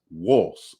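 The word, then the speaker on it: Wos: and the morotic script you pronounce Isis wolse w-o-s which I found interesting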